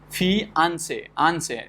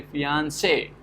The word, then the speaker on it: fiancé: Let's say fiancé, for which somebody says that the fiancé, where the second syllable is getting stressed, and in some people say that fi is of secondary importance and say is like stressed. If you have some French speaker, they will say fiancé.